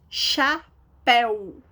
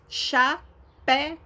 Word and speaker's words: chapéu: Chapéu. Chapéu. Chapéu. Todas são acentuadas na última sílaba.